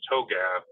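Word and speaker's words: TOGAF: the open group architecture framework to GF it's pronounced toab is one of the best tools that's never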